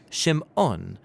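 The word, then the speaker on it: Shimon: a son and she names him simon or in hebrew shim on because she says the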